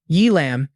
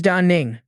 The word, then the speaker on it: Da Ning: Y lamb. Did I hear wrong? Or did they mispronounce? Da Ning quickly corrected. First, I want to say my name is Da Ning, not Y Lamb.